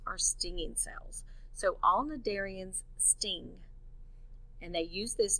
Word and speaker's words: cnidarians: called the darienne's notice this word starts with a c' but that c is silent so it's pronounced cnidarians they're invertebrates which means